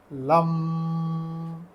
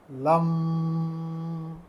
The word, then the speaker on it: लं: बीज मंत्र लम है तो लम में ल एक तिहाई लंबा खींचना है और दो तिहाई लंबा इसमें म के नीचे हलंत तो ऐसे बोला जाएगा लम लम लम ऐसे मंत्र का उच्चारण